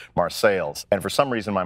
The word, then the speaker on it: Marseilles: My mom comes from a small coal mining town in central Illinois called Marseilles, Illinois. It's spelled like Marseille, France, but it's in central Illinois, so it's pronounced Marseilles.